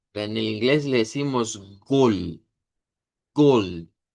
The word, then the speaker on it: Gold: Y va a sonar a gold. Gold. Entonces, vean, gold con la D, gold con la T.